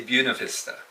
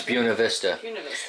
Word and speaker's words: Buena Vista: we're in Buena Vista how do you pronounce that actually around here they say Buena Vista I was corrected on my channel it's Buena Vista so it's Buena Vista and you run your